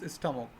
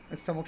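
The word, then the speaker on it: stomach: The river would need monsters স্টামক, monster স্টামকটা দৈত্যের পেট লাগবে। স্টামক শব্দের অর্থ হচ্ছে, এটা উচ্চান্তর দেখে স্টোমাক, কিন্তু অরিজিনাল প্রোনাউন্সিয়েশন হয় স্টামক।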